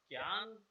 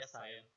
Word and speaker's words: cyan: CMYK, okay, so इट्स अ क्यान या सायन, because क्यान हमारे भारत में बोला जाता है, क्योंकि हमारे भारत में CY को प्रोनाउंस नहीं किया जाता, तो वो क्या करते हैं उसको क्यान बोल देते हैं, जो हमारे जनरल लैंग्वेज में रहता है।